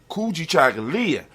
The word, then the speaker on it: Kujichagulia: for ourselves and self-determination kuji chagalya when you say it properly kuji chocolate and just